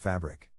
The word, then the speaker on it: fabric: To pronounce fabric, have in mind that the size of the syllable indicates where the accent or stress is. In this case, the accent is in the first syllable, corresponding to fab.